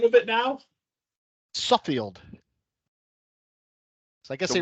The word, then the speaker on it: Suffield: Suffield.